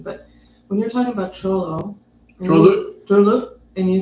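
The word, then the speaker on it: Trolö: Trollo? Yeah. The best way to spell it is T-R-O. Some people spell it D-R-O. It's in between the two.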